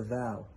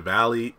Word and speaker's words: Devale: the vat davao yeah the proper way to pronounce the name even though i feel like i've said all the incorrect names is not the valley is not the veil it's the vow like the value the way he explained